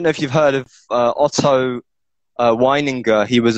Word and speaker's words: Otto Weininger: By the Otto, if you want to be European, Otto Weininger, because he was from Austria, and it's written with W, but it's pronounced V.